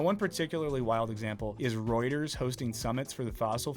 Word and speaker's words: Reuters: trauma response thanks ghost am I the only one who pronounced rers rers uh Reuters as rotters for like 10 years yeah probably sorry